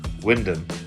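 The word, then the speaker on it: Wymondham: Lor's appliance is an ex great Yarmouth appliance and my Dennis spent his time at Roy London or that's how we pronounce it in Norfolk is pronounced Windom.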